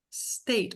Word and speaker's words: state: State. State, com o T quase mudo ali no final, né? Com stop. Stop T, tá bom? É uma sílaba só.